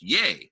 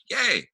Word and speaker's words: Ye: by the way yay his name is pronounced yay like yay um thank you long